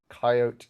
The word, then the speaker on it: Cheyote: this channel um yes coyote is how you say the fruit it's how you say the jailbreak yes outside of the